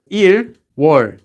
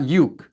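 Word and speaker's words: 유월: January is just 1 you war February is too so II warned and so on there are some exceptions six for June is you war it's not u k-- and ten is she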